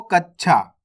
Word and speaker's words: कच्छा: हो रहा है देखो कच्छा कच्छा और इसको कैसे पढ़ा कछ तो फर्क समझना है आपको ना तो आपको पूरा च पढ़ना है और च का उच्चारण आपको आधा करना है कच्छा इस प्रकार से अब